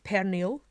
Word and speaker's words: pernil: on J am o n apologies for my pronunciation and advance in Catalan it is pernil p ER n IL in english hum Italian